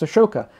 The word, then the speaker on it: Ashoka: A history of King Asoka, or King Ashoka, depending on how you pronounce the name. In Pali it's Asoka, in Sanskrit it's Ashoka.